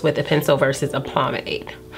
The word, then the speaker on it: pomade: a pencil versus a pomade pomade y'all know i've been calling it primate all this time and the reason i found out it was not promate because obviously i could